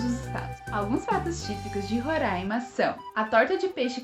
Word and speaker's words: Roraima: é roraima ou roraima de acordo com a origem do nome seria roraima que significaria morro verde porém muitos professores de